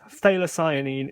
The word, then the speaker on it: phthalocyanine: close together phthalo it's almost like the f is kind of Forgotten in your mouth so it's phthalocyanine it's the same as the middle part of of phenol phine so a lot of people say that wrong so if you want